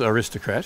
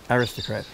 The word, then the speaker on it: Aristocrat: And what you just said is the American pronunciation, which is Aristocrat. Uh-huh. It's also the Australian pronunciation, but it really should be Aristocrat.